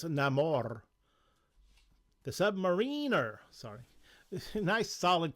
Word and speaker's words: Namor: you claim it here Prince Nar oh sorry I got to say it right Prince namore the Submariner sorry nice